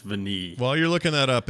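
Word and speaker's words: Vanille: name while you're looking it's french for vanilla v-a-n-i-l-l-e i'm pretty sure it's veneed while you're looking that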